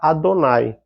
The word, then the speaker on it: Adonai: então eles vão eh usar a regra querer que eles vão pronunciar Adonai que para nossa tradução